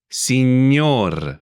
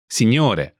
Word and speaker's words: Signor: Signor. Signor. This is an honorific used for men. Signor. Is actually a shortened version of Signore. Mr. Before family names, it's common to drop the E.